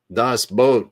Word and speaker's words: Das Boot: pretty famous movie called Das Boot, and it was about a submarine. And so a boat is a boat. It's kind of pronounced, it spells like boot, but the Germans pronounce it boat.